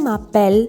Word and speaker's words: m'appelle: M'appelle. M and A has a liaison, so we read it as one. M'appelle.